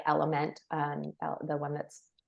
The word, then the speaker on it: LMNT: get it in without sugar some people like element um the one that's spelled lmnt and then the last thing is